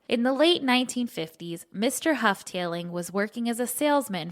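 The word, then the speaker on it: Houghtaling: The family name is pronounced Hufftailing.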